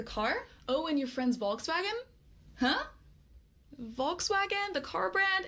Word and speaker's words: Volkswagen: Listen, we don't say Volkswagen. We say Volkswagen with the letter F.